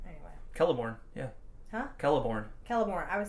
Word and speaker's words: Celeborn: Celeborn's like, or Celeborn. Why am I calling him Celeborn? Anyway. Celeborn, yeah. Huh? Celeborn.